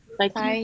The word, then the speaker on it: Tighe: Tighe, yeah. And back it up with evidence. There isn't like. Oh, there. Okay. There Yeah. Sorry, I completely missed that. Start with a statement comparing Burke and Tighe, then back it up with evidence.